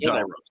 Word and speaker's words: gyro: Papa Gyros. I order the Gyro Supreme. Suddenly, the lady behind me chimes in. It's pronounced gyro.